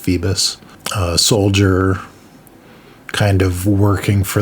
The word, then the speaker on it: Phoebus: his name is phoebus kind of looks like phobos but i think it's pronounced phoebus soldier kind of working